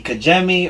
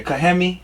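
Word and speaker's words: Cajeme: this it's in mexico c-a-j-e-m-e kajammi or kagemi or cayenne or they don't say they don't use j's i'm sorry cayemi sonora mexico yeah kahemi kahemi sonora mexico there's a woman cut in kahemi sonora mexico who's only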